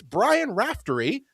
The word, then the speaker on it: Brian Raftery: It's Brian Raftery. I hope I pronounced your name right.